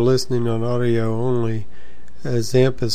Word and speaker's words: XAMPP: people that are listening on audio only a examp is spelled x a m PP or you can